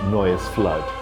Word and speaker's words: Noye's Fludde: piece of music called Noah's flood it's kind of an Old English pronunciation of the the Noah's Arc story and it's a wonderful